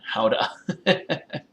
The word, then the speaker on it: Gouda: It's pronounced howda. You signed up for this. You did. Like, consciously. You followed me and everything. Is it like, so is Gouda like howda with that kind of thingy?